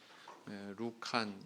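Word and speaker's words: Λουκᾶν: 누가복음의 원서의 제목은 카타루칸, 이렇게 누가라고 이렇게 번역이 되어 있는데 루칸 이렇게 발음을 하죠.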